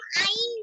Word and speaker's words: عين: হা আর আইন একই স্থান থেকে উচ্চারণ হয়, অর্থাৎ হলক এর মাঝখান থেকে।